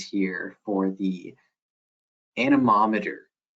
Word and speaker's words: anemometer: like we had some attendees have some good pronunciations here for the anemometer anemometer that's it that's it I just can't never